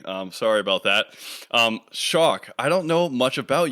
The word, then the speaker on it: Schalk: sure sure so my it's not wrong the way you're pronouncing it let's start with that um it's traditionally originally whatever a German name and if you ask a German person to pronounce it just based on the letters they will say schul um but I uh